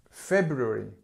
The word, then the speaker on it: February: times okay February February now with February what we we do is we say it quite fast so we say February and you don't hear this February but actually it's feu and again strength here long v v verb vow here and actually with February it's something that many people even natives get wrong you hear February you